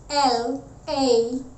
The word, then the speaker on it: lamb: The first one, L-A-M-B.